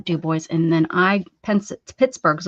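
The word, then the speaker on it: DuBois: Yes, we pronounce the Dub Boys.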